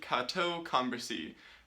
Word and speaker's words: Cateau-Cambrésis: That's spelled weird, but I'll say it again, the Treaty of Cateau-Cambrésis.